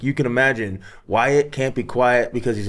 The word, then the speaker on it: Wyatt: wow because my name rhymes with diet and be quiet and I grew up fat and talk a lot. So like you can imagine Wyatt can't be quiet because